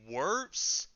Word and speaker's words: Wirfs: It was Tristan Wirfs, I believe is how you say his last name.